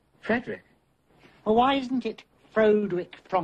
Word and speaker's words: Frederick: Do you also say Froderick? No, Frederick.